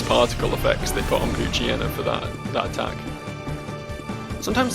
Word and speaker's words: Poochyena: effects they put on Poochyena for that attack. Sometimes say Poochyena, sometimes say Poochyena. Like hyena is pronounced, so you'd think it would be Poochyena, right? But Poochyena sort of flows better.